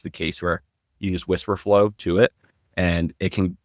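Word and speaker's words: Wispr Flow: So Whisper Flow, it's spelled WISPR. It's like, and then Flow, FLOW.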